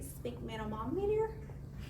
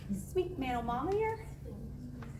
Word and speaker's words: sphygmomanometer: Sphygmomanometer. Sphygmomanometer.